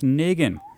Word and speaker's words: Negan: Dead this season and the inevitable confrontation with Negan.